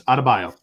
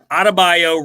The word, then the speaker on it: Adebayo: It's not that hard to pronounce. It's Adebayo. Adebayo, really simple, unless you don't know what's going on in the world.